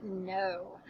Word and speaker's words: know: o w at the end makes the o sound like in Rainbow okay so we just studied that so you should be super confident with it this is the word no all right let's spell